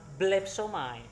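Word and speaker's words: βλέψομαι: Bacanya sama ya. Bacanya sama, tetap blepsomai, hanya hurufnya sudah bergabung.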